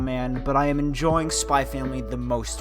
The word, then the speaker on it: Spy x Family: I'm going to say Spy Family, not Spy X Family.